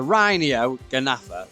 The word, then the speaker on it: Rhyniognatha: The Rhyniognatha.